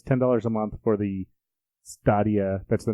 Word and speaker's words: Stadia: Stadia. You're Have right, you heard Stadia. it pronounced? Yes, you are correct. I was just thinking it kind of sounds like Stadium.